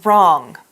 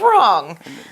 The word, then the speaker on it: wrong: to say yeah things wrong okay okay well let's find out what he means by wrong now this is an adjective it's spelled WR Ong wrong we don't say that w it's silence that's a good thing